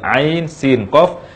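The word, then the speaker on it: عسق: Sehingga ayat kedua dari surah Asy-Syura ini kita baca ain sin qaf.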